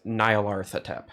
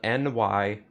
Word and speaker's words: Nyarlathotep: This name, which I will spell for you, is Nyarlathotep. Oh, okay. That is spelled Nyarlathotep. Okay. Nyarlathotep, or Nyarlathotep. I've heard it pronounced both ways.